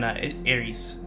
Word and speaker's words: Eresys: How long have you been working on Eresys? Am I pronouncing the title correctly? I want to make sure. Yeah. Okay. On Eresys, we have been working like 1 year and 8 months.